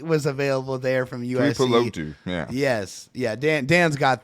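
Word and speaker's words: Tuli Tuipulotu: Ojolari, Tuli Pulopu. I know I messed that up. I'm so sorry. Tuli was available there from USC. Tuli Pulotu, yeah.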